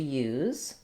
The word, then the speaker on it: use: I use something, and this letter S says the Z sound. I've rewritten the word for you here, spelling it more like the word you with a Z. This is also a case where letter U says a glide sound, like a Y sound, plus the oo sound.